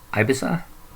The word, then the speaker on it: Ibiza: length uh produced in is busy is bizarre ibiza is how you say it ibiza sound studios in